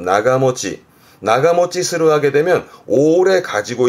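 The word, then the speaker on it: 長持ち: 그러니까 오랫동안 가지고 있다는 뜻인데 발음은 나가모치.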